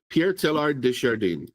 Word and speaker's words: Pierre Teilhard de Chardin: One of the minds we looked at was Pierre Teilhard de Chavin. Did I say it right? I better look it up because I'm going to mess. Yeah, Pierre Teilhard. There we are. Pierre Teilhard de Chardin.